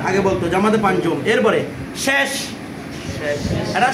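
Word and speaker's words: شش: এরপরে শেষ, এটা শস না, সবাই এটাকে শস পরে, এটা শস নয় কি শেষ, শেষ মানে শেষ না, ছয়, ঠিক আছে।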